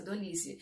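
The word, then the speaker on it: Dolisie: Acredito que a pronúncia seja essa, Dolize.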